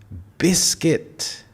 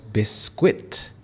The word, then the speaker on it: biscuit: It is biscuit and not biscuit. So we have 2 syllables here, biscuit.